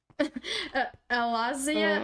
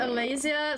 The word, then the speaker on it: Alaysia: Alazia Alaysia, sorry, I said your name wrong.